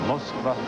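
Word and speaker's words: Москва: Moskva 86, Russian pronunciation of the city of Moscow.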